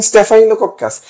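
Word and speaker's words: Staphylococcus: আচ্ছা ওকে, বাকি পার্টটার ক্ষেত্রে দেখো স্টেফাইলোকক্কাস, স্টেফাই, এখানে একটা দেখো আই উচ্চারণ হয়, আমি যেভাবে পড়তাম এই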